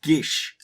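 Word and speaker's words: Geas: once each day oh apparently just dry from Irish so it's actually supposed to be pronounced Gish we're going to call it geese it's still geese sorry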